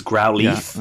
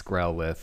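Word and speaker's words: Growlithe: Twitch a little bit it was growle okay fine cuz I'm pretty sure it's supposed to be like growth right but you guys cleared that one up I corrected that one and it's growth unfortunately I sound like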